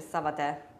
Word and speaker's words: savate: perché mi dicevi a telecamere spente che in realtà la pronuncia è Savate. Savate assalto, Savate, sì, Savate perché assalto. È francese.